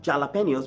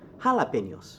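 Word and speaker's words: jalapeños: bien la he Rafa not child opinions but jalapenos okay El mono El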